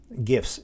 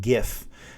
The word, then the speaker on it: GIF: um let's see gifs gifs gif graphics interchange format gif now some people pronounce this gif they're wrong in my opinion i like i pronounce it gif so gifs are animated